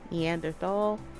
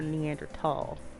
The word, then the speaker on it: Neanderthal: preference a preface and there's no h sound when it's pronounced in french and german it's something when i